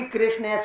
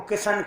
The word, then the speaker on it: कृष्ण: है भी कृष्ण नाम बहुत सारे लोग तो सही क कृष्ण को किशन के कृष्ण ग को कशन ग क किशन क कोई किशन के कृषण मतलब कृष्ण कोई उच्चारण साधारण नहीं कर पाए तो मैंने तो